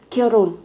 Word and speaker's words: 결혼: Nhưng mà cái phụ âm hờ này các bạn phát âm rất là nhẹ.